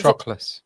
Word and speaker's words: Patroclus: It's going to be Patroclus.